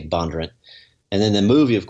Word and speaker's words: Bondurant: And so the kind of in Northern Virginia, the northern pronunciation is Bondurant, but down in Franklin County they say Bondurant.